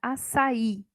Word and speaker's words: açaí: Por exemplo, na palavra açaí, o i fica sozinho na sílaba e ele tem acento por isso, né? Porque ele é tônico.